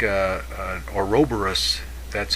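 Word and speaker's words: ouroboros: be something missing sort of like a an oroborus that's how you say it the the cosmic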